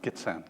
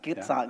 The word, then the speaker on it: Gitxsan: Gitxsan. Gitxsan, Yeah, thank right.